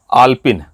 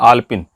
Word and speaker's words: आलपीन: दूसरा शब्द है, अक्सर हम बोलते हैं आलपिन। आलपिन, आलपिन दीजिए, ये आलपिन है। अब देखिए उच्चारण में कितनी गलती कर रहे हैं, आलपिन, जबकि वो आलपीन है।